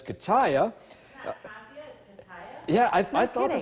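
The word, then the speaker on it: Katia: We have Gert and, I'm pretty sure if I pronounce this correctly based off of what their website says, Kataya. Yeah, I thought the kidding. same thing. Yeah, I guess it's Kataya, but that's at least what the Atlantic Storm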